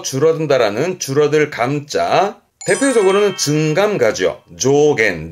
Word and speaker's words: 増減: 조겐 조 명심할 거 이감은 의미라는 거 조증가와 감소를 줄여서 조이었습니다.